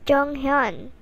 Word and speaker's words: Jonghyun: here i am to tell you that it's pronounced as jung hyun not jung hyun trust me on this is